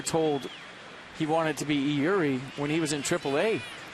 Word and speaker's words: Eury: It's the way we pronounce it now, Eury, as instructed by the player earlier this season.